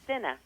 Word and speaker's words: Senna: Senna. Yeah. Senna's a natural laxative that helps you remember how to say it.